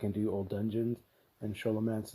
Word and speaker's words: Scholomance: do old dungeons, and Sholomance is there with the or Scholomance, however you pronounce it. I think it's Scholomance. I think it's Scholomance. That's how you pronounce it.